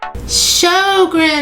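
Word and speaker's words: Sjögren's: Su syndrome that's how you say it but what is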